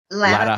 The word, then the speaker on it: Latta: And you correct me if I pronounce this wrong. Latta High School or Latta High School? Latta High School.